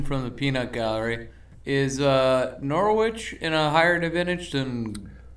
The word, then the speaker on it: Norwich: It's pronounced Norwich. The W is silent, so every American does this. Don't care. It's Norwich.